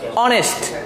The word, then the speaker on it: honest: তাহলে আমরা এটাকে উচ্চারণ আবারও করি অনেস্ট, আমরা এটাকে হনেস্ট বলি না, এটাকে বলে অনেস্ট।